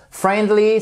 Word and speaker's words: friendly: face ou tal alors friendly ça vient de friend et on ne prononce pas le i non plus ici exactement comme dans